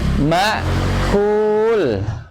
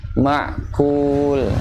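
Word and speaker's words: مأكول: Ini sering kedengarannya nih, kalau saya pernah dengar imam ada yang bacanya gitu terlalu nekan huruf hamzah, jadi kedengarannya huruf ain, ma'kul. Ya, sekedar aja ma'kul, ya.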